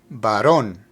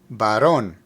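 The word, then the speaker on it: varón: them Baron means male note that there's an accent over the O so the pronunciation is Baron Baron embra means female remember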